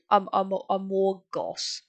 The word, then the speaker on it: Amorgos: You try too hard to overpronounce it, and it's Amorgos.